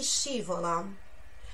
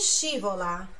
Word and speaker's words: scivola: A chi scivola? A quem escorrega, ó, scivolare, no? Pronúncia, ó, SCI, chi. Sílaba tônica no chi.